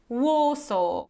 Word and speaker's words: Warsaw: all of them and the proper pronunciation is law so Warsaw so you see the trick here is that we don't pronounce this at the end so you can't say low or so or or so okay we don't pronounce